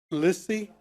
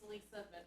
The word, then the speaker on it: Lisa: Lissy, is that correct? It's Lisa. Lisa? They didn't put an A on it. Okay. It's spelled with the E.